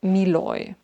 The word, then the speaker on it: Moynat: So, I learned that this brand is pronounced Miloy.